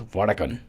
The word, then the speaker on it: Vadakkan: Beach Studios presents vadakan off Beach Studios presents vadakan am I pronouncing it correctly correct I'm saying more like